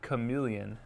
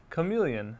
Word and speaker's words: chameleon: Okay, so, me가 조금 길게 사운드가 되는군요.